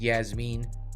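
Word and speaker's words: Iasmin: Yasmine lucindo and I did not spell that wrong that is how she spells it the exact catches my eye every time I'm like i8s that's weird but it is it's pronounced Yasmine lucindo versus Brogan Walker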